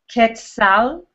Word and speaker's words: Quetzal: You say Kalpuli, Kalpuli, and then the next part, you can break it into parts, and it's Quetzal, like the bird, Quetzal.